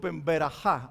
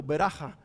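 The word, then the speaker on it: ברכה: Ya les dije anteriormente que la palabra en hebreo se pronuncia, berajá o beraja, pero más que nada berajá.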